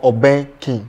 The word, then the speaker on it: Obeng King: The name Obeng King, I don't know if I pronounce it well. Is it Obeng King or Obeng King?